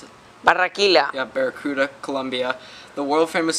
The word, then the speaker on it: Barranquilla: Born in how do you pronounce it? Barranquilla.